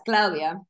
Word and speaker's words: Claudia: I please tell me I I I I pronounce that correctly yeah it's Claudia all right Claudia of r who is